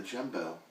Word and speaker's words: Jumbeaux: And his last name is spelled Jumbeaux. So Jumbo.